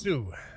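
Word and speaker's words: Sioux: Sue, it's just pronounced Sue.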